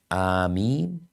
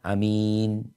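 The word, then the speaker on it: آمين: disebutkan, memanjangkan hamzah sama mimnya tanpa tasydid, yaitu amin, atau memendekkan hamzahnya, memanjangkan mimnya amin, amin ya, atau membaca pakai imalah tapi pakai mad amin, seperti itu.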